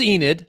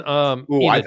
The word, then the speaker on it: Enid: So it is Enid, not Enid. Yes. Yep. Right? It's Enid.